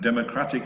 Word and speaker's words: democratic: so you notice that the accent it moves it's democracy that dah dah dah dah dah dah dah democracy and democratic it moves one syllable to the right Democratic that the data